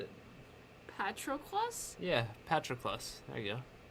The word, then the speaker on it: Patroclus: Yeah, Patroclus. There you go. Patroclus. That's really how you pronounce it?